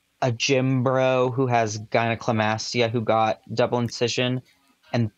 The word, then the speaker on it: gynecomastia: Gynecomastia.